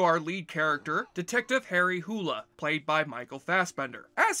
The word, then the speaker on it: Hole: his problems because although this character's last name in the books is supposed to be pronounced as hula the filmmakers have decided